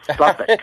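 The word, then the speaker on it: Southwark: Yes, it's at the Suffolk Playhouse, which is spelled South, South Wark, Wark. Oh. But all those Brits, they pronounce it Suffolk.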